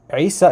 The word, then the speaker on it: Isa: the that that that the name isa in arabic starts with the letter ein which is this guttural sound from like the throat